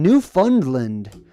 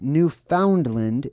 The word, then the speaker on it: Newfoundland: effects will be in new fundland or Newfoundland he purposely he purposefully for the sake of the movie in the script mispronounced Newfoundland and pronounced it new fund land funding for the new